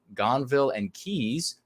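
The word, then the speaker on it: Gonville and Caius: was at st john's my grandfather attended uh gonville and keys not sure if i pronounced that right you certainly did well done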